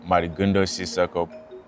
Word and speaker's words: Mady Sissoko: The way you pronounce my name is Mady Sissoko, but back home, people call me Madiganda.